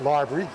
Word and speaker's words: LBRY: as the lbry application which is you know pronounced library which is the parent